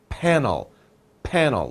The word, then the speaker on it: panel: so solar panel and remember the p pronunciation panel panel lips together so we have solar